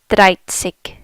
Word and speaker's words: siebzig: So it's an SZ. It's pronounced siebzig.